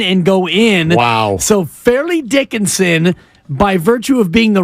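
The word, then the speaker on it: Fairleigh Dickinson: Dickinson even though that that is how it's pronounced yeah I grew up calling it Farley Dickinson sure um but it's fairly Dickinson but that always makes it sound like you're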